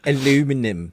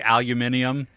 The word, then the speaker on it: aluminium: it's not right aluminium I love the way that British say aluminium however if you were to spell that out it does not actually spell aluminum you you have ant say it you have an extra eye in there some place don't you bring your